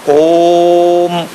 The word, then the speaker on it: ओम: प्लुत लगाया गया है कहा गया कि ओ को तीन मात्रा तीन गुना ज्यादा ऊंचा स्वर लेकर बोलना ओम और जो मा वो